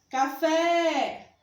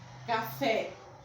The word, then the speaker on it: café: A palavra café. Vamos pronunciar chamando café. Esquisito, né? E até engraçado, mas funciona. A sílaba tônica é fé, café. E ela é acentuada.